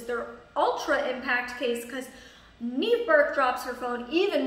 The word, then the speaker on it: Niamh: It's pronounced Neve, N-E-V-E, but it's spelled N-I-A-M-H.